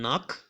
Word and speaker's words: knock: silent letters in them for example in knock who have key at the beginning which is a silent letter so it shouldn't sound out now with all of